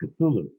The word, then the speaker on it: Cthulhu: he corrected me and he said no it's pronounced cthulhu and i said how do you know he